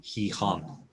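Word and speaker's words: Gijón: gonna say say gihan there's an accent on the off so the stress has to go on there he hun yeah caroline gray what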